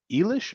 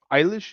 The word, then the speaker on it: Eilish: my collection this uh i just learned how to say her name billy elish eilish eilish is that right eilish just learned how